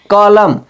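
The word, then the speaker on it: column: तो हम क्या पढ़ेंगे कॉलम सी ओ एल यू एम एन इसमें एम और एन एक साथ लिखे हैं दोस्तों तो हम एम के बाद एन लिखा है तो एन का उच्चारण नहीं करेंगे क्योंकि यह यह दोनों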